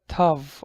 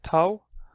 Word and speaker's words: Ⲧ: first thing we have is a tough or tau if I heard it more like tau it's pretty used in